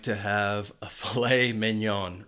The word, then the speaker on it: filet mignon: This food is actually 2 words, and the stress is on the second syllable for each word. Filet mignon. Now, you might be wondering about why is it pronounced this way because of the spelling. Well, this is a French word.